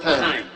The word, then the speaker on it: Tain: It's pronounced time. Yes. Not T. Not T.